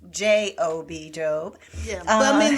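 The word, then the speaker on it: Gob: is Job Bluth who it's spelled G O B. But it's pronounced J O B.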